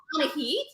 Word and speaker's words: Anahit: Anahit. Anahit. Last name is pronounced.